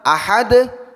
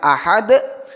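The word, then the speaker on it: أحد: Jadi ahad bukan ahada, assomad bukan assomada, alfalaqo bukan alfalaqoh. Kemudian kesalahan ketiga adalah memperpanjang bunyi qalqalah.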